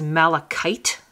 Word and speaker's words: malachite: It's got a CH in the middle, which you'd think would be like the ch sound, but in chemistry, in this word anyway, it's not. It's a k sound.